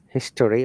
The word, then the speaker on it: history: We do not pronounce the O, history or mystery.